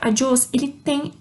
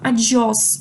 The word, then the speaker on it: adiós: na letra O, mas em português isso daria mais ênfase à letra em si, né? Seria um adiós, porque tem acento, mas em espanhol não, tá? A gente vai ver isso mais pra frente, mas o acento não necessariamente determina a entonação da frase.